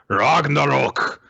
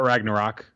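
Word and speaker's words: Ragnarök: with his new technique ragnarok it's not ragnarok there's an umlaut in there so you have to use the proper pronunciation why is everyone else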